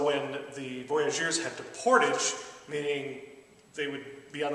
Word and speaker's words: portage: Of course, they're French, they pronounced it portage.